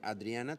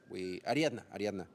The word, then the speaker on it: Ariadna: Next, delivering quality with the correct strategy from Adriana Trueba. Ariadna. Yes, I remember that. I saw the name. I pronounced the name wrong earlier.